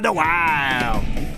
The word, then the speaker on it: DeWylde: And DeWild is spelled DEWYLDE. DeWild.